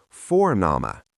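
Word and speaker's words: Vorname: In German, when a word begins with V, it usually sounds like the English F. So V in German is very different from V in English. Let me show you. F. That's father and for nama, which means first name.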